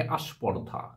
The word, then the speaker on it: স্পর্ধা: এটাও আদি সরাম হলো স্পর্ধা অনেকেই বলে থাকে আস্পর্ধা ব্যাপারটি কি স্পর্ধা সংযুক্ত ব্যঞ্জন স্প এই স্প এর এর উচ্চারণটাকে সহজ করার জন্য হয়ে গেল আয় এসে আস্পর্দা একটা জিনিস তোমরা লক্ষ্য করছো